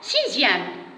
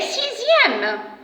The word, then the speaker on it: sixième: Alors, maintenant, pour le son ZE, dans quel mot j'entends le son ZE? Bien sûr, dans les mots dixième et sixième.